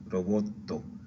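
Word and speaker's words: ロボット: Robot, roboto, roboto. Recuerda cuando tengo esa doble T, hago una pausita, roboto.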